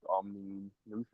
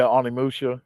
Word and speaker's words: Onimusha: You did a video on I don't know how to pronounce it, like Omni Nusha or whatever. Yeah, Onimusha. Yeah.